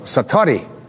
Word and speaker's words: satori: it's called excuse my Japanese but it's called Satori i' love to say that sator s a